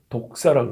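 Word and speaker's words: δόξα: 첫 번째는 뭐냐면 우리가 영광이라는 헬라어 말은 독사라고 합니다. 독사는 사람 물면 죽죠. 근데 발음은 똑같아요. 독사라고 합니다.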